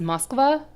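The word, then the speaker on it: Москва: that's how it's spelled in Cyrillic so it's pronounced Moskva in Cyrillic and it's Moscow for the one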